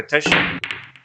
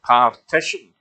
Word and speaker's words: partition: Did somebody ever explain that to Dennis Taylor, that it's not a petition? Because I'm sure if you ever hear him, that's how it sounds, that he's pronouncing it as a petition. And not giving it a hard R, partition.